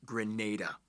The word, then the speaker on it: Grenada: It's pronounced Grenada.